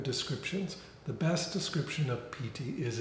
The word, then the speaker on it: piti: The piti needs to start arising. So what is piti? It's spelled P-I-T-I.